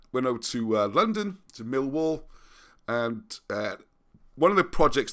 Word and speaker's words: Millwall: Which, a little bit of trivia for you, Millwall is spelt with 4 L's, whereas correctly pronounced, you don't say any of them.